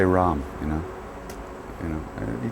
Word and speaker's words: Ram: wrong can you say Ram you know you know you can I mean even Indians they roll their RS Ram right we don't so we're saying it wrong anyway but Ram knows you